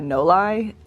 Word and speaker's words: Noli: Her name's like, her real name's Magnolia, and her name is spelled like I would pronounce that Noli, N-O-L-E-I, but I guess it's like pronounced Noli, like short for Magnolia.